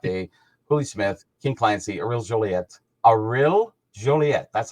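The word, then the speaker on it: Aurèle Joliat: You get Howie Moran's Hop Day, Hooley Smith, King Clancy, Ariel Joliet.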